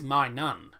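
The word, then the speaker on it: Maignan: no he his name's his actual name is my nun m-a-i-g-n-a-n it's actually pronounced my nun it's pronounced man i don't know why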